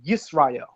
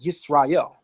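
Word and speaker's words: ישראל: text of the Torah, we pronounce it with a sin. Sin. No SH, but SI, sin. That's why whenever you're reading the Masoretic text, it'll never say Yasharallah. It'll say Yisrael.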